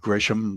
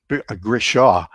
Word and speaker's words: Grishaw: I never had the opportunity to meet Billy Grisham, but Grishaw. I mispronounced his name.